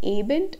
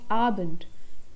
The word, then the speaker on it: Abend: guten abend here again the pronunciation of ah and not a it's not a bent it's abend guten abend the next